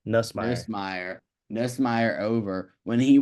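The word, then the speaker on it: Nussmeier: pushed Garrett Nice, I don't know how to pronounce his last name. Nussmeyer. Nussmeyer.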